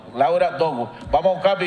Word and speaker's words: Dogu: ¿Qué se pronuncia? Dogu. Laura Dogu.